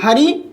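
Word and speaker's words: hurry: ही इज इन हरी, इन हरी में यहाँ देखिए तो ही इज इन अ हरी होगा क्योंकि हरी एच से स्टार्ट हो रहा है, प्रोनाउंसिएशन भी एच से है।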